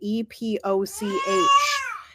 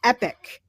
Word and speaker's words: epoch: figured out how to pronounce the word e p o c h it's epic not epoch it's not